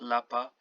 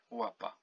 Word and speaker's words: łapa: The L with this dash in the middle of it is pronounced like W in English. So not L, it's W, like łapa. Not lapa, łapa, which means paw.